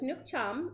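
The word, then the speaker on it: nước chấm: Nukechum. Nukechum. I think that's what they said. Nukechum. Nukechum. So, now I know how to say it. So, it's Nukchum.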